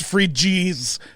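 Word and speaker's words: Phryges: Sentient red hats, the Frigies, I guess is what the red hat is called. Sure. Spelled Phygres, or I don't know. Google told me it's pronounced Frigies.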